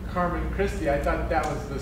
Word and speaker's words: Carmen Christi: Carmen Christ. Carmen Christi. So it's butchered Latin.